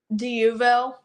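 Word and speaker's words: D'Youville: DUville. DUville. Yes. Spell that.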